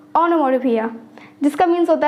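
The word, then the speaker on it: onomatopoeia: तो गौर से सुनिए सही प्रोनंसिएशन है ओनोमो फिया जिसका मींस होता है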